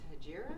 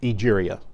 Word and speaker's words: Egeria: You said the other one was Hegira? Egeria. How do you spell that?